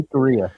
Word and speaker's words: Jicarilla: The Jicarilla, yeah. What they said. Just pronounce the J like an H, and then it's pretty much common.